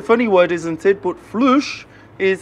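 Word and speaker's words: فلوس: But flush is how you say money in Darija, the main language here in Morocco.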